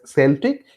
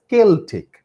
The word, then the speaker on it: Celtic: Okay, it can be pronounced as Celtic, it can also be pronounced as Celtic. Okay, so you may utter anything.